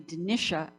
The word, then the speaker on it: Dinitia: um first of all i am actually denisha and i will say